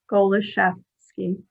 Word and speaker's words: Golozewski: It's, as my daughter would say, it's pronounced as though you were thinking about a French chef that went skiing. Golozewski.